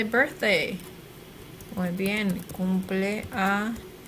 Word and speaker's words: cumpleaños: Cumpleaños. It's not an N, it's an ñ. Cumpleaños is.